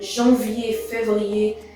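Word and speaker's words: janvier: you can find it you can say that jean-vivie sounds a little bit like january february but actually it's not that much so i'm not going to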